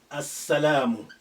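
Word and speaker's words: السلام: If I say As-salam, if I say As-salam, As-salamu, the peace. As-salamu. This sin is a sun letter. That's why it's carrying the shadda after al. And that's why the sukun of lam has been removed.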